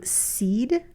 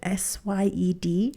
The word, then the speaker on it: Syed: Now, when I was listening to the book, it's a Black Box Thinking by Matthew Seed, I think is how you say his last name, Syed.